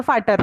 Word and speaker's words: Vater: okay, वो वी हम लोग यूज करते हैं लिखते वक्त, बट फाटर प्रोनाउंसिएशन, क्योंकि वी का फाउ होता है ना, तो इसलिए माइन